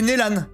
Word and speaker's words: Neslan: Le S il se prononce pas, c'est impossible. C'est Nélan. C'est impossible que le S se prononce. Ça ne tient pas debout. Si tu veux qu'on prononce ce S, il faut mettre 2 S. Merci Aya. Là c'est forcément Nélan. C'est forcément Nélan, c'est obligatoire.